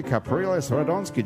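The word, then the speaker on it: Capriles Radonski: Marcel is the communications coordinator in New Orleans for the Venezuelan presidential campaign for Enrique Capriles Radonsky. Did I pronounce any of those words correctly?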